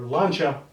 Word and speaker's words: Lancia: So I'm sure I'm going to have to do that on the Lancia, or Lancia, as it's pronounced properly.